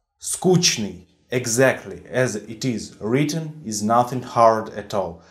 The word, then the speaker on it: скучный: So in Russian you will meet this word in two variants. The variant скучный is the proper one, according to dictionaries, and the скучный variant is a common sense variant.